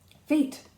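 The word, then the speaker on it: Phaet: Fate, Umbriel says. Because my name's pronounced like fate, it sounds like destiny's calling every time someone addresses me.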